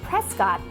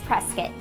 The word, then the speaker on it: Prescott: Even though the name looks like it should be pronounced Prescott, it's Prescott.